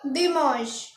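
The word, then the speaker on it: dimanche: आई एम ए एन सी एच इसको पढ़ेंगे दि मश तो हमने संडे को पढ़ा दमस और आज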